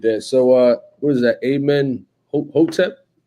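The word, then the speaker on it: Amenhotep: Amen Hotep? That's how you pronounce it.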